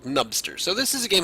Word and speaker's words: Nubster: soul eyes souls and nubster possibly supposedly pronounced noobster but if you're trying to do that then you deserve to be called nubster so this is a